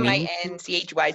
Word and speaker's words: Minchey: So how do we pronounce your last name exactly? Minchey, Min? Minchy.